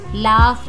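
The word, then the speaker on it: laugh: लाफ, जी H silent है।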